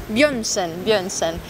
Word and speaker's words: Bjørnsen: Ho pronunciato giusto? Quasi. Björnsen. Björnsen.